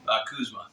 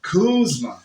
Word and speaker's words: Kuczma: with, and now how do you say your last name? Kuczma? Kuczma. Kuczma. Kuczma. Okay. Yeah. If you're from Poland, it's Kuczma.